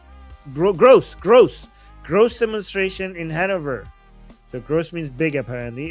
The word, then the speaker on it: Hanover: Um, Han Hanover, pronounc it right?